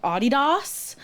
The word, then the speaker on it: Adidas: in my group was pronouncing Adidas the correct German Way which is I think it's like Adidas oh yeah I